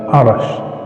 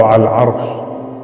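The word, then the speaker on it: عرش: Cara membacanya adalah Arash atau Al-Arsh.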